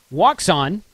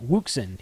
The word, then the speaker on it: Wouxun: no one walks on I pronounced it walks on because that's the way it's spelled Richard Richard Lenoir at main trading company pronounces it Wilson he says that's the Paris Texas way to pronounce it Wilson if you look up